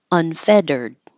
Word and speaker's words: unfettered: Unfettered, unfettered. Those two T's are a quick flap, like udda, like butter.